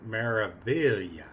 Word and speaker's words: Meraviglia: was on there and the captain pronounced Maravilla so that's what I'm gonna say if MSC is an